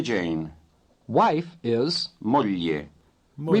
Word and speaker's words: moglie: capitano, vorrei presentarle mia moglie Jane. wife is, Moglie. Moglie. remember that the GL combination is pronounced lieu as in million.